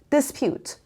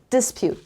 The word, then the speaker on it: dispute: practical words number seven dispute dispute the stress is on the second syllable and here this is a short sound so i don't say dispute dispute dispute dispute